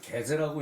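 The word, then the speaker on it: 豈弟: 그 이게 기자로 썼지만 이걸 개제라고 읽어야 돼요.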